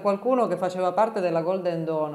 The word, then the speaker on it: Golden Dawn: che faceva parte della Golden Don o Golden down come preferite che non sto ricordando Chi esattamente era appunto la volontà per chi non lo sapesse la Golden Dawn come credo che si pronunci in inglese correttamente era questa società segreta